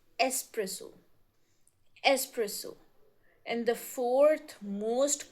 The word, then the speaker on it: espresso: It's not espresso, it's espresso.